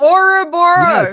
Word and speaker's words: Ouroboros: Ouroboros. Yes. Even if you pronounce it correctly, Ouroboros, people still would not understand what you're talking about.